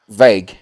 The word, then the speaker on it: Van Wijk: As I mentioned, I've got van Wijk. Have I pronounced that correctly? Van Wijk. Vague.